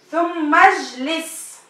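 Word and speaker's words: ثم اجلس: Le alif ici, il ne fait pas partie du radical du mot. Donc on ne le prononce pas.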